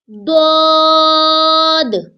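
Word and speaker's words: ض: This is dod. Kindly read after me. Dod. Dod comes from side of the tongue, rests on the side of the molars to pronounce dod.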